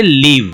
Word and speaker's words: live: अब यहाँ पे नेक्स्ट है LIVE, इसको क्या बोलेंगे, इसको बोलेंगे लीव। तो दो प्रोनाउंसिएशन हो गया, LIVE का दो प्रोनाउंसिएशन हो गया, लाइव और लीव।